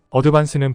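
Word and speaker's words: advance: 시간에는 어드밴스에 대해 알아보죠 어드반스는 보통 한국에서는 어드밴스로 발음합니다 하지만 필리핀식 발음은 에일레로 하기보다 주로 아로 발음합니다 그래서 여기서도 어드반스라고 하겠습니다 부동산 계약에서 어드반스는 일반적으로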